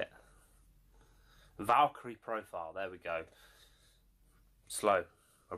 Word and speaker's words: Valkyrie Profile: And it is the mighty Valkyria Profile, is it? I think that's how you say it. Valkyrie Profile, there we go.